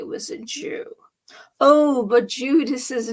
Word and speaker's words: Judas: it doesn't matter but which sounds more like jew jude or judas jude or judas the emphasis of the syllable is act is emphasized the second symbol of das a-s not jew but judas this is saint jude